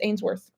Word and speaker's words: Ainsworth: I always say Trip Ainsworth. His last name is pronounced Ainsworth.